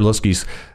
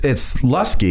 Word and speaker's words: Luskey: It's Luskey, isn't it? Yeah. Luskey.